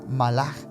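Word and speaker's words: מלאך: que decíamos ahorita que la palabra en hebreo se pronuncia malaj pero se escribe mal Eso significa en hebreo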